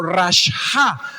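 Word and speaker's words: רשע: una palabra hebrea y es un poco difícil de pronunciar pero es como rasha termina en ha y con tilde en la a rasha significa moralmente mal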